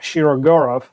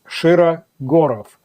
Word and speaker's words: Shirogorov: It's not Shiro and it's not Shiraurov. It's Shira Gorov. The sha sounds like in the word shot. Gorov is not gurov. It's gor.